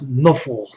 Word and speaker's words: Nuffle: known as Nuffle, which, if you look at how Nuffle would be pronounced, or how NFL would be pronounced by somebody that was an orc or a god or a dwarf, you would probably pronounce NFL as Nuffle.